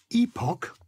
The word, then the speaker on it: epoch: is watches batches but if the ch ending is pronounced with a k sound you just add a solitary s so that batch becomes batches but epoch becomes epochs yeah monarch becomes monarchs stomach becomes stomachs i love it i just